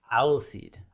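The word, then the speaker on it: Alseid: Pronunciation one more time? Alseed? Alseed.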